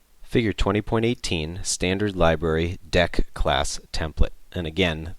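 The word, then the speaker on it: deque: figure 20.18 standard Library deck class template and again the name deck is sometimes pronounced deck as well now in this example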